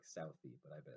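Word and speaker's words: Southey: was written by Robert I think it's pronounced study it looks like Southie but I bet it's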